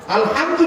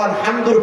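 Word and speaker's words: الحمد: আর যদি আপনি এটাকে হা পড়েন আলহামদু, বাংলাতে উভয়টার উচ্চারণ হ দিয়ে, আর কোনো শব্দ নাই। হার উচ্চারণ হ, হার উচ্চারণ হ।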